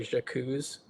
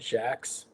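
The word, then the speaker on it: Jacques: it right, and I It looks French. It looks like Jacuzz, but he pronounces it Jax. I think it's cuz he's British.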